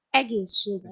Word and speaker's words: egészségedre: Cheers in Hungarian is egészségedre. Did you get that? What? Yeah, sure. Egészség Indra, I guess.